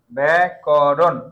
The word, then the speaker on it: ব্যাকরণ: হইতে পারে ঠিক আছে এখানে এখন কিন্তু হসন্ত দিয়ে দেবে না কারণ এখানে একটা অ উচ্চারণ হচ্ছে এখানে একটা অচ্চারণ হচ্ছে আর যদি আমরা এখানে পারফেক্টলি দেখি তাহলে এখানে একটা ওকার ব্যাকরণ ব্যাকরণ ব্যাকরণ এভাবেও দেয়া যায়।